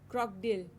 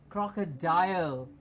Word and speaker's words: crocodile: things in some rivers croc dill ah not a croc dude but a crocodile excellent very good a